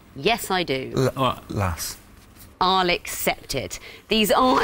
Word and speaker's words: As: Lass. I'll accept it. These are, as you both knew, playing cards in French. Jack, Queen, King, Ace and As. The French would pronounce it, or Las for the ace.